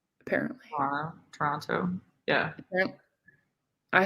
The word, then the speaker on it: Toronto: I had a nice lesson yesterday on how to pronounce Toronto because I say it wrong. It's Toronto. Apparently. Toronto.